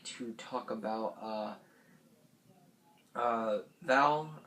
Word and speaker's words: Val: Next, I would like to talk about Val, or Vale, however, I'm pretty sure it's Val. It's spelled V-A-L.